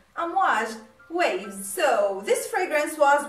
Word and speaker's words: Amouage: So in case you are wondering or curious about what the name means, and it is pronounced exactly the way all people say it and the way it is written, Amouage, waves.